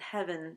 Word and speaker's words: heaven: But more likely, Shakespeare intended heaven to be pronounced as 1 syllable, and the trouble was meant to be just a normal word.